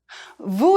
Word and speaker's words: vous: want to show respect it's pronounced with the uh sound as in vu is also you in